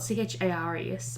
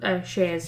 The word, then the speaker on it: Chares: So the guy called Chares, it's spelled Chares, pronounced like Chares of Lindos.